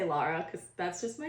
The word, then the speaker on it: Laura: my middle name is Lara and I pronounce Laura like somebody from freaking Boston does it's Laura l-a-u-r-a but I'll always say Lara because that's just my